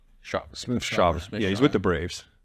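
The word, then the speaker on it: Smith-Shawver: I always say his last name wrong. AJ Smith Shaver. Shaver.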